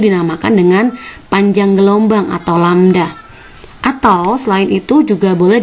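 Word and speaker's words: λ: Ini dibacanya lambda.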